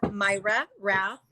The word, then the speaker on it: Mayra Rath: that the youtube is under my personal name myra wrath and it's spelled m-a-y-r-a and my last name is r-a-t-h